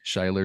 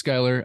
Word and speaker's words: Skyler: my name is Skyler a lot of people pronounce it incorrectly shyler sheiler so or can I speak to yeah um so yeah my name's Skyler um obviously I've been